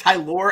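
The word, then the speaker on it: Tylor: Again, and it's he has Ty Lore. It's they say you pronounce Ty Lore, and as I said, it's a Game of Thrones name.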